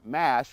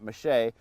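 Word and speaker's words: mâche: that on the radio saying it's called corn mash, not mache. That's the French pronunciation.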